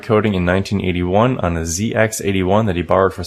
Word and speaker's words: ZX81: So I think Phil would like to correct your pronunciation of the computer that he first programmed on. Uh-oh. The ZX81 is the correct name.